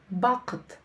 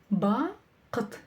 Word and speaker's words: бақыт: Разделили по слогам. Вспомнили, что буква во втором слоге не читается. Лишь намек на то, что это слово твердое. Как прочитать букву К с хвостиком? Очень просто. Попробуйте прокашляться через букву К, и у вас все получится.